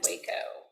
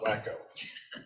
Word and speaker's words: Waco: It is pronounced Waco, not Wacko. Yeah.